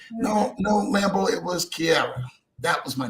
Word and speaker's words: Chiara: So now I want to be calling you Shira. And I've been calling you for months. It's just been Shira.